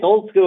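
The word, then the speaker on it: Olde Skuul: Yep, it's Old Skool. Old Skool. But it's spelled kind of Middle English, O L D E S K U U L in Seattle, Washington.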